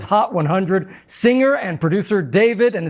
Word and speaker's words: d4vd: Singer and producer David, and it's spelled D4VD.